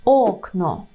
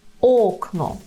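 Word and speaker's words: okno: не телефон а телефон окно так окно передостанній склад Ок його наголошуємо окно Я на своєму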